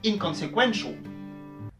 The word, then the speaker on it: inconsequential: Donc on se retrouve avec un accent secondaire sur la première syllabe, et un accent primaire sur la quatrième syllabe dans inconsequential.